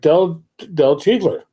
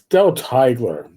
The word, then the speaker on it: Teigeler: a long time, like Del Teigler. Actually, it's Del Teigler. I get Dell's name, his last name wrong, and I shouldn't be screwing that up. The whole I before E crap.